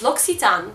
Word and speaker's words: L'Occitane: Więc musiałam to zgooglować i tą nazwę firmy czyta się L'Occitane. Więc L'Occitane przesyła Wam kopertę niezaklejoną, więc możecie potem jeszcze użyć.